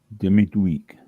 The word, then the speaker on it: demi-muid: Demi-week. Demi-week. Demi-week. Oh boy, that's demi-week. Demi-week. The D is not pronounced at the end there. That's what it is.